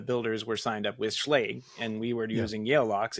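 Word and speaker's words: Schlage: myself out somehow so did you guys know that it's actually pronounced schlaga no I had no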